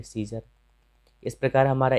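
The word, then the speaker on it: Caesar: तो यहाँ पे सी ई के बाद ए आया है और यहाँ पे ए का उच्चारण नहीं किया जाता है, तो इसे पढ़ेंगे सीजर।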